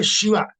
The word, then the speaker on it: Shiva: other Indian language like Canada it is called Shiva only not sh no no I am talking about pronunciation not right you like mag you write